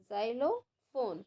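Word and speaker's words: xylophone: जालो फॉर्म once again speak with me जलो फॉम एक्स वाय एक्स वाय एल ओ जाइलो फोन फोन की है पी एच ओ एन ई जाइलोफोन okay जाइलोफोन music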